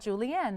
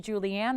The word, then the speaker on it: Julienne: Did you get the pronunciation on her beautiful name? That's what I thought. Julienne. That's very pretty. I love the E instead of the A. It's usually Julianne. This is Julienne.